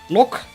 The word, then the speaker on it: loch: I'm pretty sure it's like an old word, so it's probably pronounced with the like the sound that we have in Dutch. But a little bit more subtle. It's not loch, right? It's not like a straight up K sound at the end. I think it is not a K sound at the end anyway. Is Thresh alive yet?